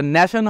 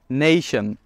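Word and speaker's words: nation: ন্যাশন, এটাও ভুল, এটা ন্যাশন হবে না, it will be নেশন। নেশন।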